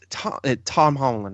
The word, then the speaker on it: Tom Holland: I can't give it the crown because Homecoming was everything you wanted Spider-Man to be, and Tom Holland, right?